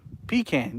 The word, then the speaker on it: pecan: So pecan, yeah, that's how you say it. If you say it any other way, you're wrong.